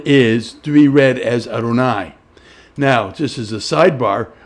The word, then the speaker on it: Adonai: adonai and so the the four letter name of god is always pronounced as adonai so you will see